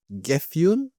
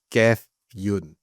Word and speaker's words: Gefion: Gefyun? Because if they're following the Norse mythology, Gethion is going to be Gefyun.